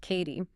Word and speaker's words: Cady: And for everyone listening that's pronounced Katie.